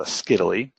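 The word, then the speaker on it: scytale: so on the left is called ask Italy I like to say that it rhymes with Italy and this thing comes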